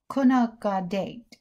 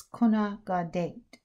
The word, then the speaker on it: Gonaqadet: the origin of the kunaka date and i just want to say that i apologize about my mispronunciation i'm not a clanket speaker but i think it's kona gaudet in a village somewhere